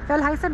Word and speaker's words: Fjellheisen: Fjellheisen, right? Fjellheisen. Have to get the pronunciation right.